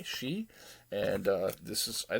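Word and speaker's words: Shi: the early 90s uh she i believe that's how it's pronounced s-h-i she and uh this is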